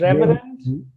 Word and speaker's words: reverend: No, it is re, ver, and. Ren. So it is reverend.